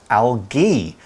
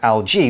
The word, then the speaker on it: algae: Okay, one thing I'm going to add is that in the UK, where I'm from, we pronounce that kind of plant algae with a hard G instead of algae with a soft one.